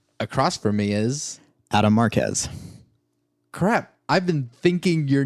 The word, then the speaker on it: Marquez: Adam Marquez. Crap, I've been thinking your name in the wrong pronunciation forever. Quez.